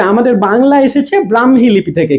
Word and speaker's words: ব্রাহ্মী: লিপি থেকে ঠিক আছে অনেকে ব্রাক্ষী উচ্চারণ করেন কিন্তু এটা হবে ব্রাহ্মী লিপি ঠিক আছে তো আমাদের